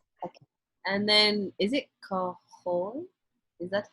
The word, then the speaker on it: Kajol: And then, is it Kajol? Is that how you say it? Kajol? K-A-J-O-L?